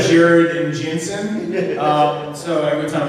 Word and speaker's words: Jared: Jared and Jensen, not Jared and Jensen. So every time I say their name, they go Jared. I'm like, I don't sound like that, but I'm pronouncing it's an A, it's not an E.